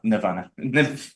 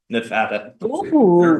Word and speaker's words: Nevada: for the state of n nevana Nevada mispronouncing our state's name one month before Nevada